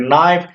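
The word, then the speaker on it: knife: उसी तरह से हम बोल सकते हैं नाइफ, यहाँ पर भी के आपका क्या है, साइलेंट है।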